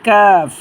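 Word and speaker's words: ك: আলিফ টানবো লাম লাম এই হরফটার নাম হচ্ছে কাফ জিহ্বার গোড়া থেকে একটু সামনে বাড়াইয়া তার বড় বড় উপরে তালুর সাথে হরফটা আমরা উচ্চারণ করব তিনবার করে উচ্চারণ করি কাফ কাফ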